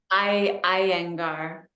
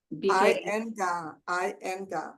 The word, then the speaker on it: Iyengar: Linga, that's how you pronounce it? Linga? Iyengar. Iyengar.